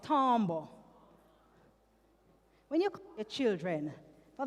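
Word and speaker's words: timbre: So another element of music is tombbo spelled timba t i m b right but it's pronounced tombo.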